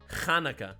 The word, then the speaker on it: Hanukkah: It's actually Kaneka. Say it with a Say it like you're trying to clear your throat of fleg.